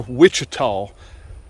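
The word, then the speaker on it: Ouachita: doing fantastic there are Wichita I think it's pronounced wichita's o-u-c-h i t a w I believe something like that uh but I pronounce them Wichita and they're doing fantastic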